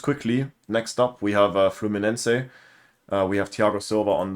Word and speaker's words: Fluminense: as Fluminense as the Portuguese pronunciation would probably be.